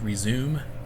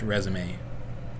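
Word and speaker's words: résumé: from so um it's spelled just just like resume but it's pronounced resume so you'll need this file from the google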